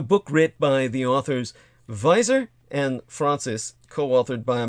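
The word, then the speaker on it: Weiser: written by the authors visor and francis co-authored by a man named visor spelled v e v-e-i uh excuse me w-e-i-s-e-r germanically pronounced like a v and francis which is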